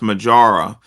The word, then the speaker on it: Mojaura: and what is it it's pronounced majara um uh nck you